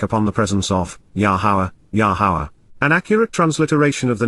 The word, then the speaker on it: Yahowah: presence of laana in direct opposition to yahawah yahawah the proper pronunciation of the name of yahovah aroa God